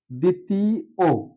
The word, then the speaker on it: দ্বিতীয়: করে উচ্চারণটা দি তি কোথাও ব এর উচ্চারণ নেই অর্থাৎ বলা হয়েছে ব ফলা যদি কোন শব্দের প্রথম বর্ণের সাথে যুক্ত থাকে তাহলে অধিকাংশ ক্ষেত্রে তার উচ্চারণ থাকে না সেই হিসেবে আমরা লিখতে পারি দি তি ও আমরা জানি রস ইকার অথবা দীর্ঘ ইকার যাই থাকুক উচ্চারণে রসইকার হবে দ্বিতীয় ও দ্বিতীয় ও উচ্চারণটা